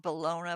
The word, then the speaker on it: bologna: It's spelled bologna, but so I call it bologna.